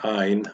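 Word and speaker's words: עין: It's one of the 2 silent letters, both Aleph and Ein. Ein would be the other silent letter.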